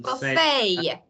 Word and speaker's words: buffet: this one what is this I I I buffet buffet a we say it as a b